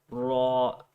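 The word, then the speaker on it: ر: brilliant okay um so there's just a slight difference between this and the english letter which would you we would say r you can pronounce the english letter with a lighter sound like ra ra so it's just too important to remember that this is a heavier sounding letter it sounds like raw rather than a you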